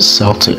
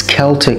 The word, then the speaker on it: Celtic: And you get the Boston, I'm not going to pronounce it Celtic. Oh, I just did. It's Celtic, come on, two C's. It's pronounced C at the end.